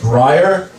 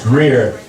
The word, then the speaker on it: Greier: My last name is pronounced Greier, but for some reason, when people read it for the first time, they can't pronounce it. The most common mispronunciation is Greier, but I've heard so many other ones that are worse. I've heard Geier, Greier, Greier, Greier. My favorite though is Gretier.